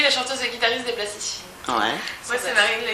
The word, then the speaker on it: Plastiscines: Sans S, hein, les Ouais, plasticines. sans S. Enfin, si, avec un S, mais tu prononces pas.